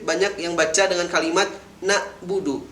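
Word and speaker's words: نعبد: yang baca dengan kalimat na'budu merubah huruf Ain yang disukunkan menjadi huruf hamzah yang disukunkan menjadi terdengar nah Budu akan tetapi dalam penulisannya itu dengan huruf Ain sukun yaitu nabudu lebih kurang cara bacanya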